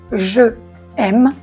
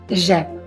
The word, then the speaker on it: j'aime: On ne dit pas je aime, non, on dit j'aime.